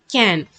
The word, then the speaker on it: can: If it is a three-letter word, you have to pronounce it as k, a, in, can.